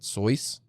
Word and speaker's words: Seuss: folks who don't know he actually pronounced it soyuz i'm not joking yeah